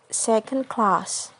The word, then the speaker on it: second class: on the first word like in a word second class the primary stress is on the word class and the secondary stress is on the in no word second next is if the